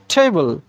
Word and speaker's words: table: যে বাংলায় যে ঠ আছে সেই ঠয়ের মতো উচ্চারণ ঠি, আমরা টি বলবো না।